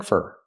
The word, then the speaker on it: for: new coat pronunciation spring fur for is not stressed so you pronounce it fur fur spring fur he needs to spring